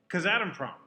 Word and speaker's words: Kazatomprom: How's it pronounced? Kazatomprom, which is out of Kazakhstan, and international in scope.